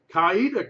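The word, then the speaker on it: Coweta: I am July 16th kaida County notice I said it right not like a Yankee July 16th also Dawson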